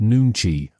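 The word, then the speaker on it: 눈치: Koreans practice nankai, pronounced nuni, a social intelligence skill that means the ability to read unspoken emotions and adjust instantly.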